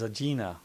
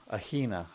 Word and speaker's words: Aegina: Our last stop was Agina. Aina. I don't know if you want to pronounce the G or not. Some people do.